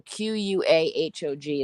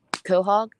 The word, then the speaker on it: quahog: that's not true Lance completely cement uh so q-u-a-h-o-g is how you spell it yeah but it's pronounced Quahog Quahog okay you see this is a problem